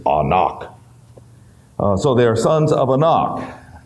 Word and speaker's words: Anak: Giants the sons of actually the Hebrew pronunciation is anak so they're sons of